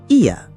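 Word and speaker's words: Oia: First stop, Ia, pronounced Ia.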